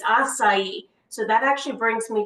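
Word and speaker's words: açaí: going to be on aaii which I have to say I don't think I pronounced that right till maybe like like a year ago or so but it's assai so that actually brings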